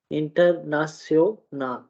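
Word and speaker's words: international: अगर टी के साथ है तो हम जो है वो उसको सा प्रोनाउंस करेंगे, इंटरनाशनल, ठीक है, इंटरनेशनल, सा वाला इंटरनेशनल जो है, हम अंग्रेजी में बाज़ औक़ात इसको शन पढ़ रहे होते हैं, लेकिन यहाँ जर्मन में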